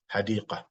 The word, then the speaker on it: حديقة: Because we stopped here, the Ta Marbota is pronounced as a ha, like a ha here, like a ha. Even though we put the dot, but we pronounce it hadiqa, wa madrasa.